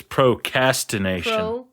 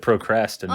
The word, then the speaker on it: ProCASTination: She missaid it. It's ProCASTination. Did I say it wrong? You said procrastination.